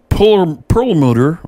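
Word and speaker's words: Perlmutter: gates we'll talk about let's see here ed pearl motor that's how you say it from colorado doug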